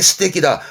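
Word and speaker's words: 素敵: 적 발음은 테키. 그래서 이게 스테키입니다. 이게 스테키다, 멋지다 하는 그 스테키다가 이 한자입니다.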